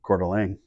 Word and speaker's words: Coeur d'Alene: Pebble Beach some French sounding course I can't pronounce in Oregon oh Coeur d'Alene Coeur d'Alene thank you yeah of course he